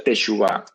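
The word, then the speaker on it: תשובה: la maldición en bendición arrepentimiento en hebreo se pronuncia teshuvá y significa literalmente dar la vuelta pero dar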